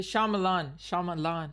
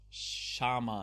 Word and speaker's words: Shyamalan: Yeah, Shyamalan. Like shaman. Like, no, Shyamalan. Shy. AM.